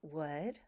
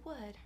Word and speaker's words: would: Teacher, how do you pronounce wood? WOULD. No. No! Forget about the spelling because you want to be able to pronounce this word effortlessly.